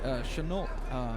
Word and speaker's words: Chenault: Neither one of them is extraordinarily tall for the weight class, but I have noticed that we've got Chenault. Is that how you pronounce his name?